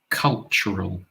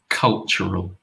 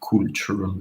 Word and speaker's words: cultural: this very busy noisy cultural and that's a sound as well cultural not cultural is cultural we have a deep sound yeah it's a lovely